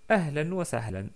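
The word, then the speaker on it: أهلا وسهلا: On s'arrête avec un prolongement de fatha. Donc on dit ahlan wa sahla. On ne dit pas ahlan wa sahl. On dit ahlan wa sahla. Ou ahlan wa sahlan, comme d'habitude.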